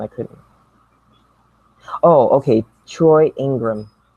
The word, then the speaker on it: Ingram: Oh, okay, Troy Ingram. It's so funny to me. Okay, he said Troy Enneagram. He saw Ingram, and to him it's spelled Enneagram.